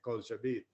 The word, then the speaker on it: Kulcha Beat: So I spelled it Kulcha, but it's pronounced the same way, Culture Beat.